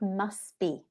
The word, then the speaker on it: must be: So when we speak naturally, it sounds like must be. Must be. So notice it sounds like one word, must be. And also we don't pronounce the T.